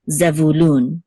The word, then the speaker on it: Zevulun: says which says loon an accent is on loon oops the accent is on loon which is the last syllable so zevulun okay and then this